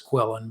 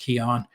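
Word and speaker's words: quillon: the the kion which everybody says quillin but it's actually pronounced keon you know the little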